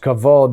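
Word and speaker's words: כבוד: this is kavald It's they're both pronounced kavod but one has a VAV in there and the other does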